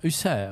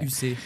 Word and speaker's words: Husser: J'ai failli dire Francis Huster, mais c'est Husser. Oui. Husser, Husser, oui, pas UC, comme la plupart des plateformes téléphoniques quand ils m'appellent.